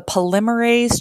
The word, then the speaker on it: polymerase: say for example so it stands for the polymerase chain reaction and you should write that down as well and pronounce it polymerase is the first word polymerase